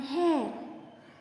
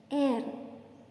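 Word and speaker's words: heir: And hair. See here H is silent. Air.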